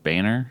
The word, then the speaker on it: Boehner: I saw today that the former speaker, John Boehner, is how you say it, is Yeah.